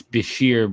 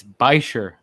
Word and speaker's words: bichir: It's Bashir, bro. You're letting down Bichir. Canada down. No, it's not. It's Bichir.